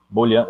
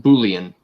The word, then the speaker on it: boolean: numbers to string bowling bola bola bola Napoleon it's it's it's pronounced boolean but oh yeah we